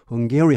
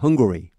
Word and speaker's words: Hungary: 그때 어떤 일이 있었냐면 when Hungary, 발음은 Hungary입니다. 이 배고프다는 발음하고 똑같습니다. Hungary 하시면 안 됩니다. Hungary.